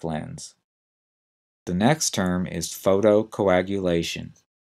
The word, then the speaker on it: photocoagulation: would mean something is clotting in this case photocoagulation is a treatment for wet macular degeneration that